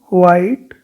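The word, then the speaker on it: white: ठीक है, वाइट। ठीक है, एच नहीं आएगा, एच साइलेंट है।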